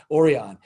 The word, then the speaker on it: Orion: i just love that it's the spanish pronunciation of orion so we're going to go with it we're just going to start calling them oreon so it is going